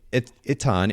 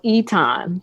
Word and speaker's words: Itan: So Itan, am I pronouncing that correctly? I want to make sure. Yeah, so it's really pronounced Eton, okay. But there's an accent that we don't have in the American alphabet.